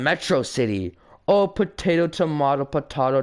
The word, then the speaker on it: Metro City: a day you and mitrocity shall not forget it's pronounced Metro City oh potato tomato tomato